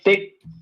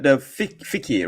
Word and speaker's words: fiqh: Yeah, thick. No, yeah. You mean the fiqh, right? Fiqh. Yeah. It sounds like the word like fig, but it's not. It is spelled FIQH.